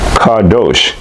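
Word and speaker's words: qadosh: The word one in this scripture is reference number 6918 in a Strong's Hebrew and Greek dictionary and it's pronounced Cardos spelled Q A D O S H and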